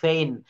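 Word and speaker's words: feign: হচ্ছে রাজত্ব তারপরে এফ ই আই জি এন ফেইন ফেইন শব্দ শব্দের এটা খুব একটা ভালো ইংলিশ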